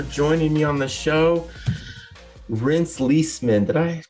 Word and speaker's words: Reenst Lesemann: Reenst Lesemann, did I pronounce that right, in the right way?